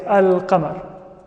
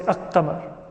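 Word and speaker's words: القمر: as al-huruf al-qamariyya, because when we add alif lam to the word qamar, we pronounce the lam. We say al-qamar. We don't say ak-qamar. It's al-qamar.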